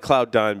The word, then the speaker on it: Cloudyn: I'm calling it CloudDyne because it's pronounced dine when you say dine.